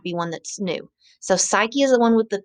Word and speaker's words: Psyche: with a p is psyche the p is silent and then the other